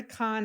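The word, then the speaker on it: Khan: anything to help you go to Con Academy con is spelled KH ha an and it's got some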